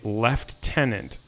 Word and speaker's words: lieutenant: British person say that ask them to pronounce the word Lieutenant you'll have to spell it out but they actually say left tenant but there's no F in that word so I don't know